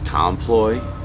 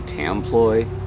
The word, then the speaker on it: Templet: and by the way I realized that it's Tom Ploy even though sometimes I say tloo but it's spelled template I don't know Anthony and Bert tomoy I believe is the way to say it even though ain't spelled that way there's a really dark